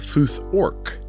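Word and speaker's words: futhorc: the Anglo-Saxon runic alphabet is called the foth orc because the a sound gradually evolved into an o sound for another another in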